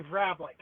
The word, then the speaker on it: Vrablik: for Blink you're closed it's actually vbl okay close good you're close it's a Czech Slovakian so it's not an easy last name to say no I looked at